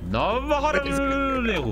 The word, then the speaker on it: Jawaharlal Nehru: My name is Jawaharlal Nehru. This is the accurate pronunciation. Please say it correctly. Can you repeat it for me? Jawaharlal Nehru.